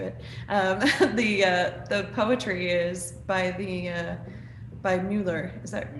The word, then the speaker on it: Müller: The poetry is by Müller. Is that correct? Yeah. Müller.